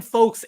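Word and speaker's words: Foakes: Ben No, Folkes we've seen him play a few times. Right, okay. Did he? I remember because it rhymes with Wokes. And Stokes.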